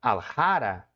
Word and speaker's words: aljara: Agora, na palavra aljara, qual é o que mais se sobressai na sílaba tônica? Aljara, tá vendo? O ra é uma sílaba forte. O aljara, ele é uma sílaba forte aqui, porque é uma palavra de origem, ela é uma palavra de origem muçulmana, tá?